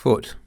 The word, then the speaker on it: foot: the word соты : foot - . Therefore, if the Russian language borrowed the word foot this year (a unit of length), then the most accurate pronunciation would be фёт.